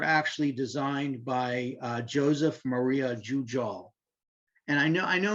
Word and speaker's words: Jujol: The balconies were actually designed by Joseph Maria Jujol. And I know in Spanish, the J is an H, but actually I looked it up, and in Catalan, you actually pronounce the J.